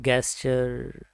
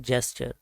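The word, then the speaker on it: gesture: अक्सर इसको हम प्रोनाउंस कर देते हैं गैस्चर या गैस्च्योर, बट इसका राइट प्रोनाउंसिएशन है जेस्चर।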